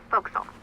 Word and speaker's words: forecastle: ship, but it's pronounced forecastle. Why is Forecastle. that? Try pronouncing it like an English sailor with no formal education.